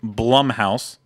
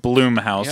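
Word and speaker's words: Blumhouse: were waiting on the which I will now pronounce it correctly because apparently I didn't last week Blum house not Blum house as I was saying before Blum house we're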